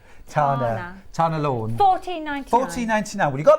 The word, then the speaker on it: Tana Lawn: Tanya. Not Tanya. Tana Lawn.